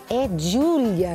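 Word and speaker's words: Giulia: É Júlia, né, que fala, né? É isso? É. Porque G-I-U, né? Não é J-U. É verdade, mas pro final é o A.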